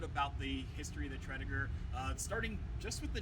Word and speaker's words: Tredegar: town in wales uh technically we pronounce it wrong here in virginia our accent has changed the name a little bit uh so it's named after a town called tridiger whales which they had